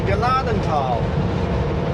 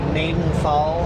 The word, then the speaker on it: Gnadental: It's pronounced Gnadental. People go Nadenthal. I'm like, since when is the G silent at the beginning of a word?